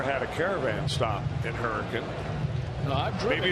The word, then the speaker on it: Hurricane: came into the game i had made the mistake of saying he was from hurricane that's the way it's spelled h-u-r-r-i-c-a-n-e west virginia when in actuality that's not how they pronounce it virginia correct hurricane so for all of